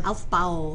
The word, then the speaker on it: Aufbau: Aufbau. Bless you. Thank you. Aufbau Principle. It turns out Aufbau is a German word, right?